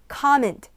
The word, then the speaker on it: comment: 근데 발음이 comment가 아니고 발음 comment, comment.